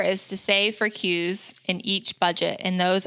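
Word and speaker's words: KUE: Okay, tip number 4 is to save for Q's in each budget, and those are known, upcoming, non-monthly expenses. Yeah, so we take the silent K from known, K-U-E, known, upcoming expenses that are non-monthly, save for them in each budget, period.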